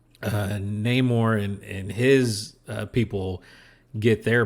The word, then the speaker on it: Namor: uh of course we get introduced to um Namor or as it's pronounced in the more which I love that about the character they